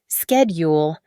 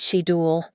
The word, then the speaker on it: schedule: The voice on the tape had said the word schedule with a hard K sound, like schedule. I had never pronounced it that way in my 38 years of life. I said she duel always.